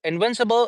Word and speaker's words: invincible: I forgot to tell you that where to give the stress again the the second syllable will have the stress when when will have the the stress invincible.